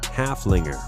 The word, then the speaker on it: Haflinger: teen Haflinger with a name that rhymes with Gunslinger halflingers are just as